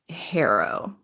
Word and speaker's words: HARO: Okay, so B talks a lot about this program called Haro. Did I pronounce that right?